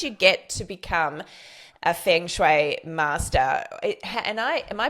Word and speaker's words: feng shui: saying it which is fung shway and it sounds like fun, like it's a fun way to work with Jane. Haha, I like that. So, the the correct pronunciation though is feng shui.